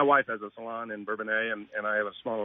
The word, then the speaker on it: Bourbonnais: Did I pronounce that right, by the way? Is it Bourbonnais or Bourbonnais? Bourbonnais.